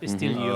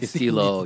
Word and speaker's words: estilo: Tagalog of style. Not Estilio. Oh, nice. Estilo, yeah.